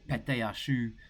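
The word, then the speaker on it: pâte à choux: We're going to show you how to make some choux pastry, or pate à choux is how it is pronounced in French.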